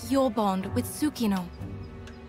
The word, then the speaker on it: Tsukino: And the bonds between monsters and riders are just like your bond with Tsukino. It confuses me that the T is silent in that. It's like pterodactyl.